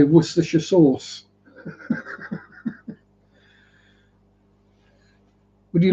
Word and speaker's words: Worcestershire: Worcestershire. And other random silly factoid. Any UK place name that has Cester or Chester in it, spelt that way, not pronounced that way, because it'd be pronounced Ster.